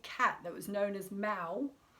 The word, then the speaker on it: Mau: that was known as Mau, which is spelled M-A-U, which I find really interesting, because that's of course like very similar to meow, which is said to be like, you know, the sound that cats make.